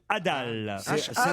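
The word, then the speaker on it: hadal: Et là, ça s'écrit H-A-D-A-L, l'étage Adal.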